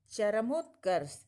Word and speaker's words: चरमोत्कर्ष: जब हम शब्द का उच्चारण करते हैं तो बोलते हैं चरमोत्कर्ष, चरम उत्कर्ष।